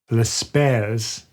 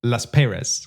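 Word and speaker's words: Laspeyres: Well, actually, it depends on where you're from. I'm from England, so I say Las Perez. Las Perez. Okay, so if you're German, you say Las Pierres.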